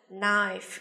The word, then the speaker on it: knife: Âm câm, đúng không? Nào, chúng ta có một số từ sau đây như là con dao, chúng ta có từ knife, đúng không?